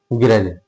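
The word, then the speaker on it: grudge: गरज।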